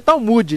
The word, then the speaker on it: Talmud: não sei não porque via de regra se pronuncia talmud né mas não dá